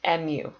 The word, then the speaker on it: mu: the coefficient is represented by the letter mu pronounced mu and we put a k for kinetic friction